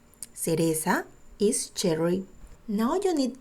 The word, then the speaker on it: cereza: Now the letter C sounds like a S because C is together E. Cereza. Cereza is cherry.